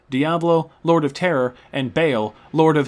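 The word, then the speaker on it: Baal: Lord Of Terror and Bale Lord of his name is definitely not pronounced ball and in fact it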